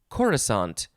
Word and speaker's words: coruscant: word this is fun it is caress uh carescant carescant carescant something like that c-o-r-u-s-c-a-n-t and some of you people if you see this word you might think oh well that's that's the city the planet wide city in star wars called coruscant what yeah it is spelled exactly the same this is pronounced coruscant something like coruscant and